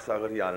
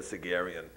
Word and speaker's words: Sagarian: question there please uh my name is sagarian and i say it's because i'm tired of saying the sigerian the way americans say it um quick points